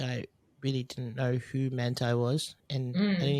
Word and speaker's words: Manti: No, I thought Manti too, but then I heard the parents say his name, and I was like, oh, it's Manti.